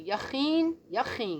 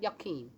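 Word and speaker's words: Jachin: The 19th to Pethahiah, the 20th to Yehezekel, the 21st to Yachin, not Yakim. Yachin.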